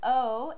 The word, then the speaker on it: aux: But you will combine these instead of saying allez. The French mouth doesn't like that sound, doesn't like to make that sound. Instead of allez, you will say o, and you'll spell it A-U-X if you're talking about